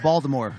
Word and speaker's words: Baltimore: It's pronounced Baltimore, okay? Please get it right.